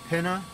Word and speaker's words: Pena: Dan PENA, that's how you say it.